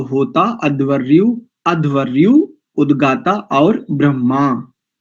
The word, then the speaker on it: ब्रह्मा: अध्वरयु उद्गा और ब्रह्मा इस शब्द का ठीक उच्चारण करें प्राय करके अधिकांश लोग इसका उच्चारण करते हैं ब्रह्मा ऐसा कहते हैं ब्रह्मा ब्रह्मा ऐसा हा पहले है इसमें इसको अगर अलग अलग करेंगे अक्षर विन्यास से देखेंगे तो इसमें ह पहले ब मा बाद में ब र यानी